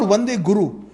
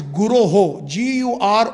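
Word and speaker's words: guroḥ: It is not Vande Guru. Again, sometimes we have the tendency to mispronounce. If we look at the board, it is Guroho.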